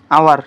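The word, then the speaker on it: hour: চোৱা থাৰ্ডটো কৈছোঁ যে যদি কোনো ৱৰ্ডৰ সাইলেন্ট এইচ অৰ্থাৎ এইচটো যদি উচ্চাৰিত নহয় অৰ্থাৎ এইচটো যদি উচ্চাৰিত নহয় তেন্তে তাৰ আগত কি বহিব এন বহিব হ'ল যেনে যদি কওঁ আৱাৰ এইটো কি হাৱাৰ কোৱা নেকি তুমি নোকোৱা কাৰণ কি আৱাৰ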